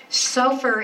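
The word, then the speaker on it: סופר: they're plural okay so very close to safer and and remember again the vowels are not in hebrew it's what we put in english but i would spell it with an o just so that you hear a bit of difference so for is the scribe suffer is the book the scribe wrote when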